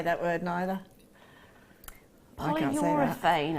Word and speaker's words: polyurethane: Polyurethane, apparently, is how you say it.